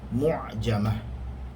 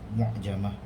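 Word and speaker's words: مُعجمة: Dikenali sebagai huruf mu'jamah.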